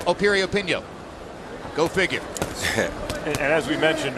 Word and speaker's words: Piriyapinyo: the name begins with a P but it's pronounced Opie reopen yo go figure as we mentioned earlier what a